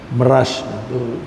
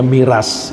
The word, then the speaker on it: Mirage: Mirage itu dipakai oleh Perancis untuk memberi nama jetnya. Kita nyebutnya miras, ya. Mirage, bacanya mirage.